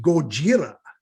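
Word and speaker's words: ゴジラ: his way but if i say gojira which is the japanese pronunciation will the counter move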